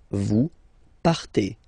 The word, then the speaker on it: partez: Then for vous, classic ending for vous as well, EZ, but then you pronounce it et. Vous partez.